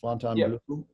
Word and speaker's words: Fontainebleau: Yeah, Fontainebleau.